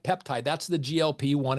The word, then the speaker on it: GLP-1: like peptide that's the glp one it's not pronounced gulp even though you gulp food and that's kind of